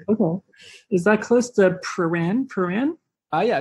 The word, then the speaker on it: Prahran: Am I saying it right? Pran. Is it Pran? Pran, yeah. Pran? I can't even say it. I mean, I'm not a true Melbournean, but yeah, I think it's Pran.